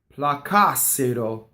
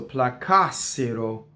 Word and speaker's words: placassero: The accent is on the antepenultimate syllable. So the normal stress in an Italian word is on the second to last, the penultimate syllable, right? This is a third person thing, so placassero. See, so it's on the ka.